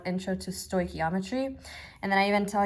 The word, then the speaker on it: stoichiometry: we're about to learn is called intro to Stoichiometry and then I even tell you how to